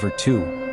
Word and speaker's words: virtù: Let's begin with Virtu, pronounced Virtu.